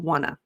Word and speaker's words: want to: The more natural pronunciation or fluidity there, oftentimes we'll use the informal contraction wanna.